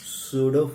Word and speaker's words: pseudo: नहीं है, सूडो force. हाँ, लिख देते हैं, स्पेलिंग डरते क्यों हो? PSEUDO।